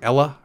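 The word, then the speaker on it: IELE: and it's called i-e-l-e and i forget how he pronounces it it's like ella ella i think he says it's like a nice nice name ella and ella was designed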